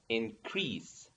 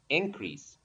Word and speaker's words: increase: Both of noun and verb are pronounced increase with sa. Okay? Um, and the difference is in stress. Okay? The position of the stress. Okay? So as a verb, increase. The stress in the second syllable, increase. And as a noun, increase. Okay? That's the difference between these two words.